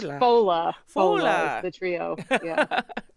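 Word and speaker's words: Fódla: She currently performs with Portland, Maine, and Boston Irish music trio Fodla. Is that right? Did I pronounce that correctly? It's more Irish. It's Fola.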